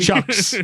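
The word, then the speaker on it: Tkachuk: And spelled it chucks. I did. So no silent T. Chucks.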